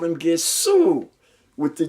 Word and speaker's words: Gesù: Italian people call him Gesù, with the G, a hard G.